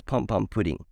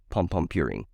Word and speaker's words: Pompompurin: It's a soft D, but it's an R.